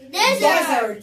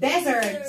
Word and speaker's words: desert: وقلنا ليه نطقنا الديزرت الاس نطقناها زز؟ ليه نطقنا الاس زز؟ عشان هي between two vowel، ما بين حرفين متحركين، الحرفين الشقي دول بيفضلوا يتخانقوا معاها، ما بتقولش اس وبتقول زز، فعشان كده بنقول desert. صحراء.